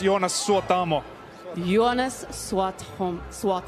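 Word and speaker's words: Jonas Suotamo: hello ladies and gentlemen yonas sua tomo hi how are you this evening I'm very good it's pronounced yonus or tomo you honest SWOT home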